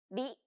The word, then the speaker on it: り: This character isn't pronounced using an English R sound at all. う。り、 It's like a mixture between an R and an L sound. り。